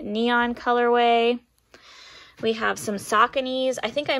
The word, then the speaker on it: Saucony: cool black and neon colorway we have some sauconys i think i mispronounced this in one of my past videos